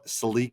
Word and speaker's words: Celica: Then there's the uh Toyota Celique. We call it Celica. You guys call it a Celica down there. Celica. That's how you pronounce it as a normal human being.